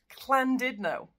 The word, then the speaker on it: Llandudno: with this one, because in Welsh, this one's pronounced Clandidno.